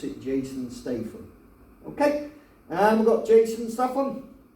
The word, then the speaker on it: Statham: was it oh my okay we've got Jason Statham and maybe he looks a little lightning to